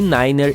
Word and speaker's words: niner: É a maneira como os aviadores pronunciam certos números em seu inglês de piloto. Three significa três, five e niner é usado em vez de nove.